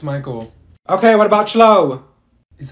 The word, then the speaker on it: Michael: she's beating rice you mean beatric thank you Mikel ma'am it's Michael okay what about Cho is that you no